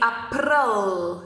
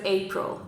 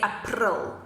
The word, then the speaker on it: April: 15th of April 2020, but we just pronounce it differently in Afrikaans. So we say April instead of April, okay? So you don't say April, you say April.